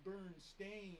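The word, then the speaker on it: Berenstain: Well, it's actually supposed to be pronounced Burn Stain, but it's spelled.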